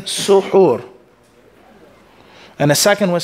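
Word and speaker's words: سُحور: The first way is saying suhoor.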